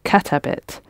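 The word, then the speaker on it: كتبت: get a bit yeah you're gonna put the emphasis on the first bit cut a bit what about she drank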